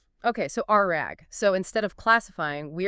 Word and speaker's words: RAG: And to do this, Humel leverages a technology called retrieval augmented generation or RE pronounced exactly like a piece of cloth. Okay, so RAG.